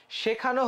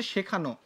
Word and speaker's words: শেখানো: এরপরে আমরা কি বলছিলাম, যে শেখানো হচ্ছে পদ্য নিয়মিত, তাই না? শেখানো হচ্ছে পদ্য নিয়মিত। দেখো এটা হচ্ছে শেখানো, শেখানো, এটা কিন্তু শেখান না।